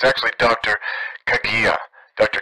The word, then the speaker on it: Kagia: annoyed with me but let me correct your pronunciation it's actually dr kagia dr kagia is how you pronounce it not kgm i've heard some similar things i actually interviewed